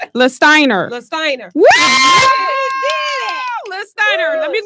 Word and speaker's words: Lastiner: Lastiner.